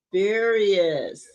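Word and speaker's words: spurious: Sperious. It'sive. Sperious. Like curious.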